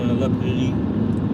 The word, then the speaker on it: La Prairie: La Prairie. La Prairie. Prairie. The emphasis on the last syllable.